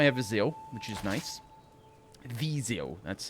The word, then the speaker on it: Viseu: Viseu, that's how it's properly pronounced.